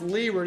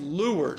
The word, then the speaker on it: leeward: sailboat okay what do Leeward is is not pronounced Leeward is pronounced lward oppos so what is L facing away it's